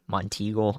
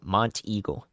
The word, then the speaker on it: Monteagle: one I'll say Monty Monty Eagle thank you Montego Monteagle got it got it gosh the pronunciation guys it's the hardest part of this